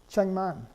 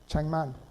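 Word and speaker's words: 책만: If you put them together, it's pronounced cheng, chengman. The Keough, the K, is pronounced eng in front of the N, cheng, chengman.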